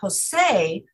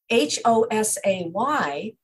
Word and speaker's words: Hosay: And it, so it's not J-O-S-E, the Spanish name, it's H-O-S-A-Y, which is the written pronunciation of Hossein.